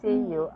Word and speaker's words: Currell: It's Currell. Impossible for Japanese to pronounce.